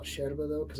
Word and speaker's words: yerba: going to call it sharoba though because that's how it's pronounced in uruguay and then your straw